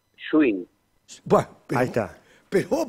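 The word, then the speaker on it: Gschwind: Mi apellido es, a ver, si lo querés leer como con todas las letras que tiene, es complicadísimo, pero para pronunciarlo fácil, Schwinn.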